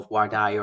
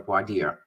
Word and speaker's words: voir dire: process that we call voir dire or voir dire. Right, okay. Depending on how you want to pronounce it, which is the questioning of prospective jurors, right?